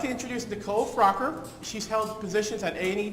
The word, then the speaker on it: Froker: And it's actually Froker. Froker? Yes. I've been pronouncing it around all this time.